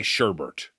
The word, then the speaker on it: sherbet: we were all trying to say, how do you say sherbet? Yeah, because there's no R in there, at least in some spellings.